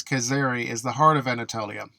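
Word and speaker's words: Kayseri: you will note that the city of kazari sits right at the boundary of our core territory this is the turkish pronunciation of caesarea so just like israel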